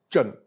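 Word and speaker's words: 震: It's called Zhen, pronounced in the 4th tone.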